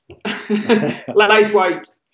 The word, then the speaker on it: Laithwaite: So he wants to know how you're pronouncing your surname so we can curse you correctly. Laithwaite.